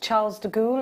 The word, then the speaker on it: Charles de Gaulle: in france i was doing an event at charles de gaulle is that how you say it yeah there's